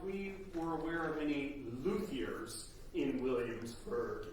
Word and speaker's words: luthier: There was a question about if we were aware of any luthiers in Williamsburg. Luthiers. Luthier, luthiers, that's right. Yeah, luthiers. Luthier is the French pronunciation.